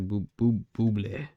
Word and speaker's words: Bublé: Michael, I don't know, remember how to say his name's like Bublé or something. Michael it's Bublé.